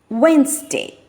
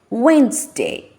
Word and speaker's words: Wednesday: to the next one silent D Wednesday Wednesday sandwich sandwich handkerchief handkerchief